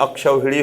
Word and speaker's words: अक्षौहिणी: अक्षौहिणी होता है, नोट कर लीजिएगा।